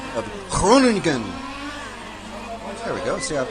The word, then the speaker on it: Groningen: So, thank you to Hugo and Laszlo for helping me with the pronunciation of Groningen.